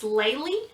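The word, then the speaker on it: Laleigh: It is Laylee. That's L-A-L-E-I-G-H.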